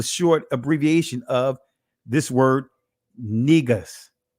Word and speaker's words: Negus: That's the in Amharic or Ge'ez, it's pronounced Negus. Negus.